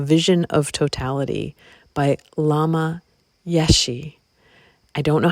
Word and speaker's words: Yeshe: to Tantra, A Vision of Totality by Lama Yeshe. I don't know how to pronounce that. It's Yeshe.